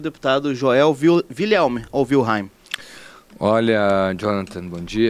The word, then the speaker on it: Wilhelm: As pessoas falam William como tu falaste primeiro, né? Mas o meu avô falava Wilhelm, como tu falaste na segunda pronúncia ali.